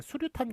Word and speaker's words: 수류탄: 수류탄, 수 플러스 유탄이에요. 총유탄을 보시면 알 겁니다. 총유탄은 유탄이라고 적지만 예, 수류탄 같은 경우에는 수 플러스 유탄이라고 읽지 않고 수류탄 이렇게 읽어버린단 말이에요.